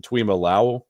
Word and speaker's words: Tuimoloau: I mean, you got players like the Ohio State, both of those guys, Jack Sawyer, JT to how do you pronounce it? Tuimoloau.